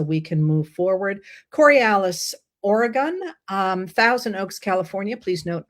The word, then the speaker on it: Oregon: Coriolis, Oregon, Thousand Oaks, California. Please note I pronounced Oregon correctly there, and New York.